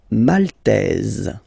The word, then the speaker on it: Maltaise: Remember this Y is pronounced like I, okay? Chypriote. Chypriote. Okay? Malte, Maltais, Maltaise.